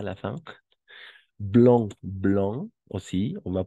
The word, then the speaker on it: blanc: vieille nouveau nouvelle bien blanc blanc pas Blanque blanc et blanche d'accord blanche